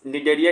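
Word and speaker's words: Cnidaria: डरने का नहीं तो निडरिया का स्पेलिंग सी से स्टार्ट होता है ठीक है सी एन आई डी ई आर आई ए इसको निडरिया भी बोलते हैं ये भी एक्वेटिक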